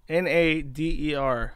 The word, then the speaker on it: Nader: So Chantal has had a back and forth with this guy named Nader. N-A-D-E-R, Nader. Actually, it's literally pronounced like Nader.